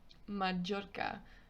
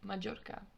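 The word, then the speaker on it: Mallorca: into later on so another example of the double l sound in a word is the word majorca majorca in english we would say majorca in spanish majorca the letter m and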